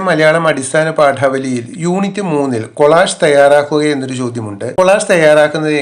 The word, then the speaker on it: collage: അതിന്റെ ഉച്ചാരണം കൊളാഷ് എന്നാണ്. പല തുണ്ടുകൾ ഒട്ടിച്ചുണ്ടാക്കിയ ഒരു വലിയ ചിത്രത്തെയാണ് കൊളാഷ് എന്ന് പറയുന്നത്. ചില കുട്ടികളൊക്കെ ഇത് കോളേജ് എന്ന് ഇംഗ്ലീഷിൽ എഴുതി കഴിഞ്ഞാൽ കോളേജ് എന്ന് വായിക്കും. കോളേജിന്റെ സ്പെല്ലിംഗ് ഇതല്ല. COLLEGE എന്നാണ് കോളേജ്. കോളേജ് ഉന്നത വിദ്യാഭ്യാസ സ്ഥാപനമാണ്. ഇവിടെ കൊളാഷ് ആണ്. ഇവിടെ SH ഇല്ലെങ്കിലും നമ്മൾ AGE എന്നുള്ളത് SHന്റെ ഒരു ഉച്ചാരണം കൊടുത്ത് കൊളാഷ് എന്നാണ് വായിക്കേണ്ടത്.